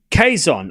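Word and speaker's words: Quezon: It's pronounced Queson.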